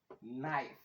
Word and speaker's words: knife: Sai wannan K silent ita ma K silent in dai kuka ga da K da N sun zo a kalmar turanci da K da N to K ɗin is silent. In dai kuka ga K da N to wannan K ɗin ta farko is silent daga kan N ɗin za ka fara furta kalmar kawai.